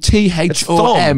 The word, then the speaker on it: Thom: Tom with It's T-H-O-M. Thom. It's either Thom or Fuck off. spell it properly. You're not. True. Thom. Oh. It's Thom Yorkie. Thom Yorkie. Thom York.